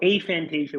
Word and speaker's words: aphantasia: and so that's actually so a Fantasia would be the technically correct way that most people will